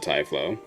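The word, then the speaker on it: Typhlo: Um, I called it Tylo Ruins in a video and people in the comments yelled at me saying it's Thlow. So, I'm happy to hear her pronounce it Tiflow.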